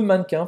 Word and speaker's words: mannequin: E como é que a gente fala mannequin? Mannequin. Não é mannequin. Le mannequin. Então quer dizer que esse E aqui não vai ser pronunciado, né? Le mannequin. Mannequin. E presta atenção como é nasalado esse an no final.